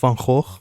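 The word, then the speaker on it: Van Gogh: going on at the van go Museum or as we here in the Netherlands call him F which is the correct way of pronouncing it let me just make that clear there's this Pokemon X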